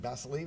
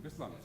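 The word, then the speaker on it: Beslan: And Basiline, is that how you pronounce it? Is that the right pronunciation? Basiline? Bislam. Bislam. Bislam.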